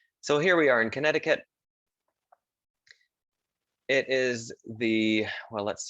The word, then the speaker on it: Connecticut: it should be pronounced you don't really say this c connecticut connecticut so here we are in connecticut it is the well